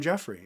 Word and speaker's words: Jeffrey: In the professional world, I'm Jeffrey, and I dropped the ERY. It's 3 syllables, folks. So, Jeffrey. Jeffrey, not Jeffrey. Jeffrey. Yeah, I need that hard R.